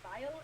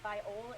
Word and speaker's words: viol: It only has a vial, which I realize I pronounced it vial. It's a viol. It's a Viola. small type. Yes, not a viola. It's viol unless they misspelled it in the book.